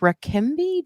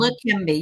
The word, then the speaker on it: Leqembi: something like Rakimbi. Do you know anything about that drug? Maybe I'm saying it wrong. Leqembi, yeah, Leqembi.